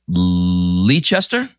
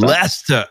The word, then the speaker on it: Leicester: to say it right leechester leicester closed last year lester oh man you know